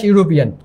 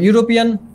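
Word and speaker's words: European: দেখো ইউরোপিয়ান এখানে কিসের মতো উচ্চারণ হয়েছে? ইউ এর মতো। আমি একটু আগে বললাম তোমাদের ই শব্দটা কিন্তু ভায়োল থাকা সত্ত্বেও এর পূর্বে কেন আমাদের এ বসছে সেটা কারণটা হচ্ছে এর উচ্চারণটা হয়েছে ইউরোপিয়ান। ইউ এর মতো যদি কোনো উচ্চারণ হয় তাহলে সেখানে আমাদের এ বসবে, এটা খেয়াল রাখবে তোমরা।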